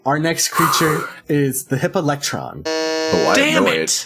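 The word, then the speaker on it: hippalectryon: He said I wanted him to say hippolectron. Yes. Hippolectrion, I think might be the actual pronunciation.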